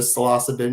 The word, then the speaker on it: psilocybin: It's it's quite interesting but um I I I forgot the salassabin because it academically is correct but I've never ever corrected anybody otherwise. Yeah, salassabin.